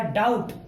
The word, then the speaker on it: doubt: अब हम इसका उच्चारण करके देखते हैं कि हम इसको कैसे पढ़ेंगे। देखिए, DOUBT, ये बनेगा डाउट।